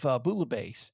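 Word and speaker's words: bouillabaisse: I did have Bulabase in Marseilles when we were there. And you said you didn't say the L's in Marseilles, but you say the L's in Bulabase. Bouabase. It's pronounced bulabase.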